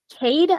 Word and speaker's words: Cade: Kay Courtley? Courtley. I can send you the link to Kay Courtley. Well, I just want to know, is it pronounced Kay Courtley? Cade, I believe.